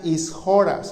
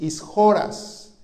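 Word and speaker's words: ἰσχυρός: La palabra de hombre fuerte, hermano, es una palabra griega que se pronuncia ishoras, así, ishoras, que habla de un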